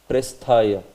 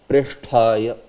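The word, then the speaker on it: प्रेष्ठाय: So this one sometimes is said by devotees as Presthaya. Presthaya. It is not Presthaya, right? It is what? It is Sha also. Sha. And then after that it is Tha. Yeah. It is Preshthaya.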